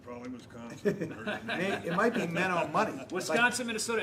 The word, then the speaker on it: Menominee: Menominee? Menominee, Wisconsin.